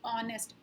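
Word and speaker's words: honest: अब यहाँ पे एच तो कंसोनेंट है, लेकिन हम इसको प्रोनाउंस कैसे करते हैं, ऑनेस्ट, ओ साउंड कर रहा है यहाँ पे, तो एच यहाँ पे साइलेंट है। हम साउंड किससे, ऑनेस्ट का साउंड जो स्टार्ट होता है वो कहाँ से होता है, ओ से, इसलिए यहाँ ऑनेस्ट के आगे क्या यूज होता है, एन। In second sentence H इज a silent and a word we pronounce from O, that's why we used here N.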